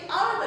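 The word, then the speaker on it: hour: हम कैसे प्रोनाउंस करेंगे, आवर करेंगे ना कि हावर करेंगे या पावर करेंगे, ठीक है। तो आवर, तो यहाँ पे किसका यूज हो गया, एन का यूज हो गया। इसमें भी क्या है, इस स्पेलिंग में तुम्हारा एच जो है वो क्या हो गया, म्यूट हो गया, यानी कि साइलेंट लेटर है।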